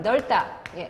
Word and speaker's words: 넓다: 얘는 겹받침 발음 넓다. 중요지? 리을 비읍은 리을로 하기로 돼 있어요.